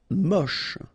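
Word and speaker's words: mouche: Mush. Don't insist on a final uh then you get the last sound is sh mush.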